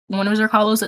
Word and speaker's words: Zrcalo: Um, I was one of Zrcalo's exes, his most recent one.